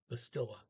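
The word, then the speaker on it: bestille: order now the stilla noticed that over there in german that would be the still because you got an st and they put a little ch in there now in this language the clean st bastilla okay and again remember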